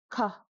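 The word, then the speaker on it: ག: If you guessed ka you are correct. It is mid aspiration, ka.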